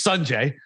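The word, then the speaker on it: Sungjae: So it's Sunjay, and I pronounce it Soonjae.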